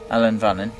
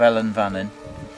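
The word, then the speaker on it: Ellan Vannin: You've sung a part of Alan Vannin. Is that how you say it? Yeah. I keep saying that. No, you've sung a part of Ellen Vannin, which is the Manx national song, which Geff used to sing here.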